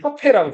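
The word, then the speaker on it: Capet: 이렇게 프랑스에서는 맨가 붙으면 티를 발음 안 하거든요. 패트라고 안 하고 그냥 카페라고 불러요.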